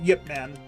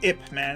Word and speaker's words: Ip Man: entire of the movie Yip Man or ipman if you pronounce it incorrectly Ip Man so yeah